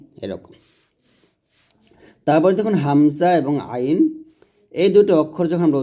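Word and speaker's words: عين: এটা হবে গলার শুরু থেকে হামজা আর আইনটা হবে গলার মাঝখান থেকে। তাহলে আমার সাথে পড়েন হামজাহ হামজাহ আর আইনটা গলার মাঝখান থেকে চাপ দিয়ে বলেন।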